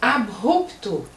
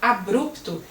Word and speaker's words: abrupto: sobre o hífen, e essa palavra também muitas pessoas acham que se pronuncia abrupto, e não é. Parece até que eu estou falando francês. Abrupto, abruptamente, assim é a pronúncia.